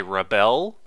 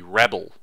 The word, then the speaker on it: rebel: is the stress, and if you say rebel, it sounds like the verb, like to rebel, rather than the noun, which would be rebel. So rebel, the stress is on the first syllable, and then it goes down.